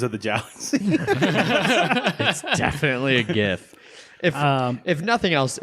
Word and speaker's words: GIF: and that's right listeners I said gif deal with it yep you said it right yeah you're correct I don't know the yeah I thought that would be controversial alright Wil Wheaton says Jeff right yeah he's wrong yeah I'm gonna break